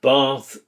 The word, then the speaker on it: bath: Trap bath split. Words like bath, ask, can't use the long ah sound, not the short a of American English.